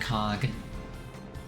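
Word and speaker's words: Coge: I wonder if he has a brother named Cog. like a cog also spelled with an E at the end.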